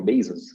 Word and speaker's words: Bezos: O Bezos, eu aprendi a pronúncia correta esses dias, é Bezos.